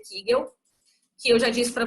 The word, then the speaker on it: Kegel: Na verdade se pronuncia Kegel, que eu já disse